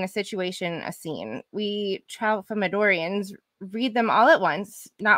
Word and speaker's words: Tralfamadorians: The Tralfamadorians.